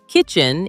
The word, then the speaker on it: kitchen: The trick is the first sound. Chicken starts with a ch sound, like chair or cheese. Kitchen starts with a k sound, like key or kite.